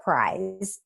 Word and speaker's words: PRISE: So when we talk about PRISE, and it sounds like a winter prize, but it's spelled PRISE, it is based on